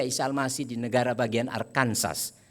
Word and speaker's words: Arkansas: Almasih di negara bagian arkansas katanya bacanya harus arkanza itu mereka bekerja sendiri